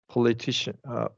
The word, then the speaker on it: politician: So before these suffixes, it's going to be the syllable before the suffix.